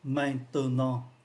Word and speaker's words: maintenant: phát âm mạnh, và chữ maintenant cũng vậy, có ba âm tiết maintenant 1 2 3 thì chỉ còn hai thôi, và chữ bờ này cũng không còn nữa.